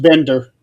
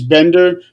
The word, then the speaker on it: Binder: Uh Chris Binder, Nick, correction, he his his last name is actually pronounced Bender.